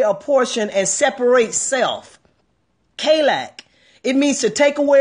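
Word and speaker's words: חלק: And I'm going to give you the pronunciation spelling so you can pronounce it. Not the real Hebrew, but K-A-Y-L-E-K. Put that on the screen for somebody for me. K-A-Y-L-E-K. Kalak.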